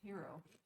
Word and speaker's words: gyro: Big old gyro. All the above. No. Not all the above. You have a strong opinion. None of the above. None of the above. It's pronounced hero.